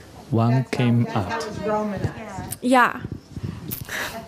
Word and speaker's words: Wong Kim Ark: I just didn't want to say it because I was going to mispronounce it. What's the name? You say it. His name was Wong Kim Ark. Wong Kim Ark.